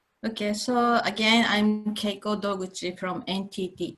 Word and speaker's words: Keiko: cloud and IOT miss KY code the floors yours thank you for interaction actually my name is it's pronounced Keiko can you hear me